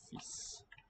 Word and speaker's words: fils: Worth noting that the L there is silent. Fils.